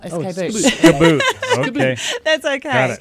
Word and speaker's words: Skboot: Skboot. Okay. That's okay. Got it. Skboot. It doesn't really matter. I just have to give it the Aussie pronunciation. Yeah, exactly. Okay. It's like ski boot without an I.